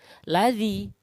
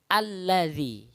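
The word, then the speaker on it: الذي: mnyadap tasydidnya maka badannya bukan lazim tapi alladzi kenapa ya karena memang ketentuannya atau hukum bacaannya seperti itu jadi alladzi bukan lazim Saya yakin ketika kita belum tahu ilmunya belum benar maka Bacanya adalah lazim tapi karena sudah tahu maka kini bacaannya benar adalah alladzi Z karena ada yaksu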